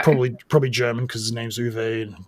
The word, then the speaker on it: Uwe: Probably German because his name's Uwe with a W, pronounced as like a V.